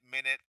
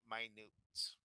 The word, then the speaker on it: minute: I just wrote there it's very small so we're not pronouncing it minute we're pronouncing it minute okay do you see